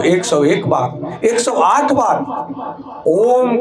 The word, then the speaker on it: ओम: इस ओम के उच्चारण को भी समझने की जरूरत है। जब हम ओम के उच्चारण करते हैं, जैसे लंबी श्वास भरते हैं और फिर ओम 3 शब्दों से बना है, आ, उ और म।